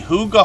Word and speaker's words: hygge: hygge which is is how we pronounce this word as if it was h-o-o-g-a but it's actually h-y-g-g-e as you can see Huga homestead means cozy peaceful